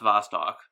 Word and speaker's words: Vostok: That's the letter V in Russian, and the S, or the letter, what looks like a letter C in English, is the letter S in Russian. So that's pronounced Vostok.